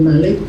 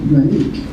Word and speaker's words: Malik: And I'm a Trinidadian, so we pronounce the word Malik, not Malik.